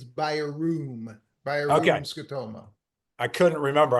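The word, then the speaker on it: Bjerrum: It isn't, but it isn't budgerum or jarum. It's beroom.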